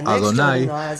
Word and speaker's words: YHWH: escribieron Adonai como y así que esto nos muestra nuevamente que ellos pronunciaron y W y Adonai de la misma manera así que hemos visto claramente que el escriba del Gran rollo de Isaías pronunció el nombre como adonay y al lado de